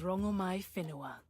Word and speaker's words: Rangomai Finoa: My name is Rangomai Finoa. Oh, see they said it correct there. Oh, we've been mispronouncing you the whole time.